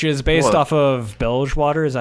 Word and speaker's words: Bilgewater: off of Bilgewater. Is that how you say it? Yes, Bellswater. Yeah. Bilgewater.